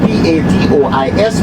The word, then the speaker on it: Patois: However, we have a Creole or a dialect that is called Patois. Patois is a French word. It is spelled P-A-T-O-I-S, pronounced Patois.